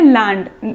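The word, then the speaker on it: Gland: इसके हेडक्वार्टर्स कहाँ पे हैं, लैंड, इसमें G साइलेंट है।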